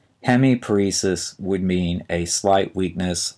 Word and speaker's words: hemiparesis: paralysis of a muscle and finally we have hemiparesis h e m i p a r s i s hemiparesis would mean a slight weakness or paralysis in